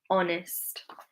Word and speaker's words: honest: So our honest, our honest. The H is silent.